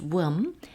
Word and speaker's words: womb: 전도서 Ecclesiastes, 전도서에서 He came from his mother's womb. 그가 엄마의 태로부터 womb, 비는 묵음입니다.